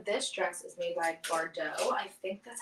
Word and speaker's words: Bardot: dress is made by bardot i think that's how you pronounce it it has a t at the end of it so it could be bar dot but i feel like it's bardo um this is one